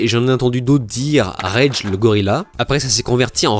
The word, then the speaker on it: Regelegorila: trouve très mignon c'est regger le Gorilla et en creusant un peu plus j'ai découvert que apparemment la prononciation exacte devrait être reg Gorilla qui signifie le roi des gourill en roumain parce que oui il